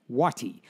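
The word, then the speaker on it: Wuoti: The Waddies said, It's spelled W-U-O-T-I, Wati.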